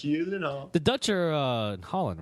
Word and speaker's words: Gyllenhaal: Gyllenhaal. Like, you don't really pronounce a G too much. Gyllenhaal.